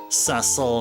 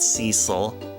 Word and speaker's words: Cecil: It's uh Ceil, not Cecil.